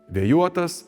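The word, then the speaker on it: vėjuotas: For example, in all the words with the suffix -uotas, the stress falls on the suffix: vėjúotas “windy”, dumblúotas “silty”, langúotas “checked”, taškúotas “dotted”.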